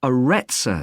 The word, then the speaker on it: Aretsa: It's called the Aretsa Centre. That's spelled A-R-R-E-T-S-A.